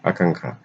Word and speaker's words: আকাঙ্ক্ষা: আকাঙ্ক্ষা, আকাঙ্ক্ষা, দুটোই ভুল। আকাঙ্ক্ষা, আকা উঙ, তারপরে কয় মদনের সমানে ক্ষীয়, আকাঙ্ক্ষা। প্রাণীবিদ্যা, প্রাণীবিদ্যা, প্রাণীর সাথে যদি বিদ্যা যোগ হয় তাহলে প্রাণী বানানে রস্যিকার হয়, আর বিদ্যা, বিদ্যা, প্রাণীবিদ্যা।